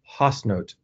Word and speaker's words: Haasnoot: In Dutch, you say her name is Marjolein Hasnoot. And Hasnoot is spelled Haasnoot.